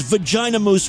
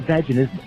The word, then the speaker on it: vaginismus: Oh, so what you're saying is vagina mousse was not the right way to pronounce that. That's not vaginismus.